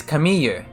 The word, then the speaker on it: Camille: a French name because the French pronunciation of c-a-m-i-l-l-e is like Kami they don't say they don't say l it's like it's like a y sort of sound so her Japanese name